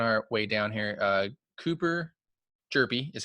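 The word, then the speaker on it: Hjerpe: Cooper Jerpy is how you say his name, by the way.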